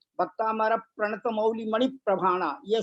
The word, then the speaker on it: भक्तामर: जैसे भक्तामृत स्तोत्र में क्या होता है, भक्तामर प्रणत मौली मणि प्रभाणा, यह शुद्ध उच्चारण है।